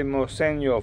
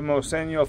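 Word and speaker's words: Moseño: But actually, it's the end of a Moseno flute, which is spelled M-O-S-E-N-O, and N, as in Nancy, has a tilde over it, which makes it pronounced Nya.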